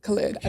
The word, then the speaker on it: Khalid: Khalid.